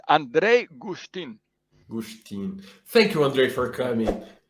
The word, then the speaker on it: Andrej Guštin: i have a friend from slovenia my friend andre gustav justin no andre andre how do i pronounce her name you just did me a second ago yeah it's andrei gustin thank you andre for coming it's a pleasure